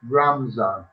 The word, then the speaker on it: Ramadan: Ramadan, pronounced Ramzan, fasting during the month of Ramzan before sunrise to after sunset.